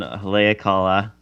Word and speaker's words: Haleakala: Second day I went up to the mountain Haleakala, which is a dormant volcano. Also, kudos to you for pronouncing these correctly.